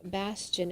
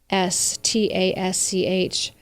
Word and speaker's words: Bastasch: But this administration is known for, according to Michael Bastian is his name, if I'm saying it correctly, it is Bastasch.